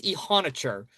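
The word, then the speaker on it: Iheanachor: Like I had to make sure all the pronunciations were right. Like I'm very confident on the Steelers. It's Max Ihonicher.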